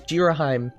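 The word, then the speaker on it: Ghirahim: Definitely not pronounced Girahim. Nope, it's Girahim.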